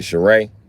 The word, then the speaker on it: Shereé: Shereé. I probably called you Sheree cuz it was easier than Shereé.